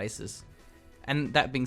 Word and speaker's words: ASUS: it Asus or Asus cuz it's technically Aus but Aus sounds stupid so why I call it Asus and that being said